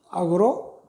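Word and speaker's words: 惡: 이때는 이제 오가 되겠죠. 발음이. 또 미워한다 할 때도 우리 정오 할 적에도 미워하다 할 때도 오로 발음을 하고 악하다 할 때는 악으로 발음을 하고요.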